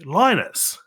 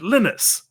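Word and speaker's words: Linus: and I think okay it's named after the guy lonus yeah lonus to outs but no he's Swedish so he pronounces it lenus and that always strips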